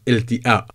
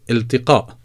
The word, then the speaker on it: التقاء: very difficult to pronounce ilti'a, otherwise it sounds a little bit silly. So therefore, I would definitely recommend to pronounce the qaf. There's nothing wrong with that. So you would say iltiqa, iltiqa.